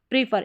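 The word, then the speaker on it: prefer: यहाँ पर है FER को फर पढ़ा, PRE को प्रीफर, प्रीफर, प्रीफर, इसको प्रेफर भी पढ़ देते हैं, प्रीफर या प्रेफर दोनों तरीके से आप पढ़ सकते हैं।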